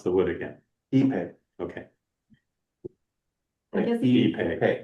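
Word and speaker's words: ipe: How do you pronounce the wood again? Epay.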